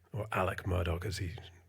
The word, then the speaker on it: Alex Murdaugh: injury lawyer involving a personal injury lawyer called Alex Murdoch or Alec Murdoch as he pronounces it um in South Carolina in a couple of years ago.